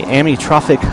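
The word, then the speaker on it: amyotrophic: raise money for and tell me if I'm pronouncing this right the a me trophic lateral sclerosis Association yes is that right yes so not only did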